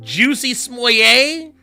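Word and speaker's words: Jussie Smollett: Is it Juicy Smollett? Yeah, that's correct.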